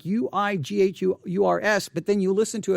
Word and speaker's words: Uighurs: The name is spelled Uighurs, Uighurs, but it is pronounced Uighurs. If you were pronouncing it, you would give it a W sound, Uighurs.